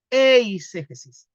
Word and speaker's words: eiségesis: la eiségesis oesis Ya a veces el griego se pronuncia la e se pronuncia i pero en el griego antiguo en el griego Coin normalmente cuando se enseña griego se enseña a pronunciar casi todas las palabras ya entonces podríamos decir que es eiségesis y la eiségesis es